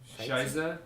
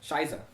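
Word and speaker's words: Scheiße: It's Shiza. Shiza. Shiza. Shiza. That's how you say shit. Yeah. German. Just so That doesn't matter.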